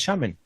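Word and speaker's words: שָׁמֵן: qué es el aceite aceite es la palabra shemen shemen tiene que ver con aceite pero hay otra palabra que se escribe Exactamente igual es shamen Y eso es gordo tiene que ver con con grasa sí a shamana es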